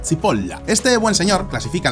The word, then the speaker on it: Cipolla: llamado Carlo María Cipolla, que en italiano se pronuncia Cipolla.